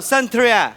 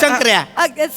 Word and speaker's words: शंकर्या: I said it wrong. संत्रा आहे होय मी? संत्र्याच आहेस. नाही मी संत्रा. बरं बोलले. पुचुक संत्र्याच आहेस. तुझा आहे लिंबाचं तोंड. शंकर आहे त्याला म्हणाव. शंकर आहे म्हण नीट. शंकर्या.